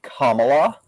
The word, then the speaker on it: Kamala: primaried um excuse me her name is pronounced kamala yeah she would still